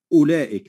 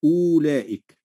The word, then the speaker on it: أولئك: ستجد أن الواو عليها الصفر المستدير، فلا تنطق الواو إنما ننطق فقط همزة مضمومة، نقول أولئك لا نقول أولئك.